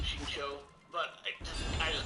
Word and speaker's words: Xingqiu: Yeah, Ching Chue. Yeah, I hate how they pronounce him Xingqiu, but I just call him XQ.